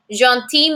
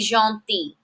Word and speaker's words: gentil: Il est gentil. Mais, but, elle est gentille. Gentille. Listen to that different pronunciation. Masculine, gentil. Feminine, gentille. I have a double L followed by an E, gentille.